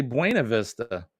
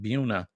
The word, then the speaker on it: Buena Vista: town called Buena Vista but we would say Buena Vista spelled the same but they call it Buna and also there's a